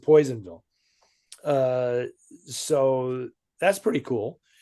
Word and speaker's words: Personville: Which is actually Personville, but they pronounce it Poisonville.